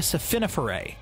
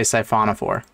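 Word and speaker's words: siphonophore: war is actually a safiniferae there are species that what a scifiniferae that can't be right how to pronounce scifauna four i imagine he was trying to say syphonophore is a crazy way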